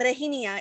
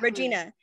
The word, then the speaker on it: Regina: homegirl first off regina like it's not regina in spanish it doesn't change it's regina right yeah second off a